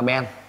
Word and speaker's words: ben: Ký hiệu là B, đọc là ben.